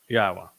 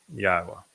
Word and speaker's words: Yahowah: All That Remains is how to pronounce the W which I am offering the o sound because it's a vowel and that shouldn't be